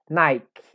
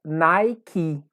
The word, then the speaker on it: Nike: vi agora apple não uma outra marca que as pessoas costumam dizer de uma mulher um pouco errada é nicki a gente design se eu vou falar corretamente seria nick nick tanto a é o prolongado tanto um e nesse caso tem um dia prolongado então fica nike e até agora nós